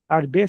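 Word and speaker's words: הרבה: E o H no final também não tem som. É o re ar. Arbê significa muito, muito.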